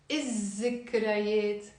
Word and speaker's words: الذكريات: So if I want to say the memories, I will write ذكريات, but I will not pronounce the lam. ما منلفظ اللام. So منقول الذكريات أو الذكريات.